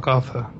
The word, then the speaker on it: Agartha: So A-G-A-R-T-H-A, but a lot of people think it's A-R-G-A-T-H-A, which it's not.